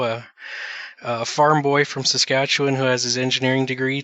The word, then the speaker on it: Saskatchewan: focused in mechanical engineering from the University of Saskat Check. Can you help me pronounce that, please? How do you say that? Saskatchewan.